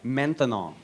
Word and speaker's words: maintenant: That's right, maintenant. Maintenant. 3 syllables, that's a long word for now.